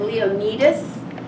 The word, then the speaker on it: Leonidas: in number three King Leonidas and you saw how to spell that it's like Leo like the lion now I looked up the Greek pronunciation and they said Leo need us but in the movie